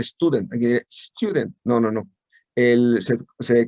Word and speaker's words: Student: Y eso me da precisamente una T de student con nu grados de libertad. Student se escribe así. Y curiosamente se pronuncia student.